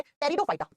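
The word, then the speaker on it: Pteridophyta: number दो पे आता है ब्रायोफाइटा और नंबर तीन पे आता है टेरिडोफाइटा लिखा जाता है टी से प्रोनाउंस किया जाता है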